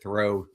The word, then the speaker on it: Thoreau: Thoreau.